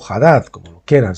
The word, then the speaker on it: Hadad: En este caso Hadad fue llamado Hadad o Hadad, como lo quieran. Si la H es muda, pues sería Hadad, si la pronunciamos sería Hadad.